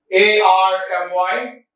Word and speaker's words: army: A-R-M-Y, army. Army, R is silent, right? Army.